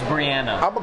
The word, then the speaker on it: Brianna: And her name is pronounced Brianna.